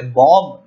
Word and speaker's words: bomb: pronounce karenge aap ise, bomb nahi guys, ye bomb nahi hota hai, it's bomb. B is silent, jo last ka B hai wo silent hai, so the pronunciation will be bomb hawks.